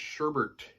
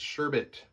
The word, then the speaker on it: sherbet: Sherbert it's not pronounced Sherbert it's sherbet there's one R and it's at the beginning of the word there's not two r's okay it annoys me